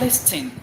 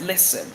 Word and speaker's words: listen: It's not listing. It is listen.